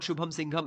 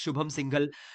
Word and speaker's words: Shubham Singhal: Dear, it's not Shubham Singham, it's Shubham Singhal. You are not pronouncing it correctly.